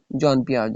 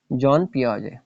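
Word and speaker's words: Jean Piaget: पियाज य स्वे साइकोलॉजिस्ट जॉन पियाज इसको आप इस तरह प्रोनाउंस करें जॉन पियाज स्वे साइकोल हु ज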